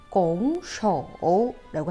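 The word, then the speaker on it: 拱手: 중국어로는 공쇼라고 합니다. 삼성이니까 니하오랑 같은 발음 공쇼라고 해요.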